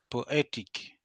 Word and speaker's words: poetic: So the rule is very simple, right? Every time you see any adjective that ends with ik, then the syllable that precedes that should be stressed, okay? That will give you electric, dramatic, historic, poetic, academic, okay?